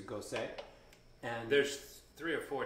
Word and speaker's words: Gose: than i do uh i used to call this a ghost we just learned it's a gosei and there's three or